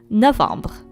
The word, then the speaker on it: novembre: So I actually didn't make a mistake writing down November because that's how we would write it in French, and it's pronounced Novembre.